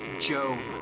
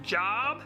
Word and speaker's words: Job: His name was Job. I think it's pronounced job. No, it's Job.